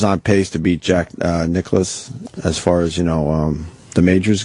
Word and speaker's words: Nicklaus: Nicklaus.